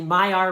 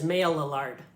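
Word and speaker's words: Maillard: they're gone a reaction which we call the my our reaction now I can imagine some of you are looking at this word and saying that clearly says maila lard but this word is French and my sources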